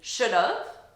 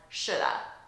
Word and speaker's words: should have: is going to be should've as a contraction. Repeat, should've, of, should've, and reduced further, a native English speaker would pronounce this as shoulda, shoulda.